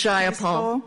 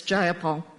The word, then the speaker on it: Jayapal: takeover it was just shy of paul if you're going to say my name please say it right it's jayapal jayapal do you would you